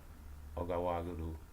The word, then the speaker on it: Ouagadougou: I know I'm pronouncing it right. Ouagadougou.